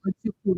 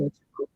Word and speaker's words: Ochuko: Ochuko, don't worry. I always say Ochuko because that's how my sister pronounces her name.